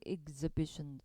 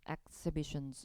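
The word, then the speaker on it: exhibition: exibition exibition 이렇게 읽어죠. exibit하고 exibition 발음주의 새로운 전시품들을 위한 공간 볼 예정인데 그곳은 원래 아까 알려드렸던 offits 그죠?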